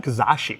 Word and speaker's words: Kizashi: Suzuki Kazashi. Yes, I pronounced it right.